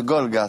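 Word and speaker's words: Golegã: un documentaire qui est inédit les chevaux de golga c'est comme ça qu'on prononce c'est ça voilà chaque année et bien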